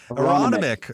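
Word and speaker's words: Aronimink: Uh and how do you pronounce it? Aeron Aeronomic Aronomic. Aronomic.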